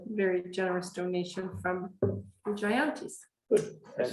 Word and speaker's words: Jayanti: $25 for each, a very generous donation from the Jayantis. Good. And how we- Second that. Yes. Thank you very much. How do you pronounce their names?